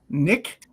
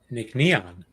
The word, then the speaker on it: Nc'nean: It is Nickon. Nick Neon. Nick Neon. Huh? Yes. It's n- ne- anneon. Nickneon. Huh. Does it glow? It is not neon, but it's neon like on.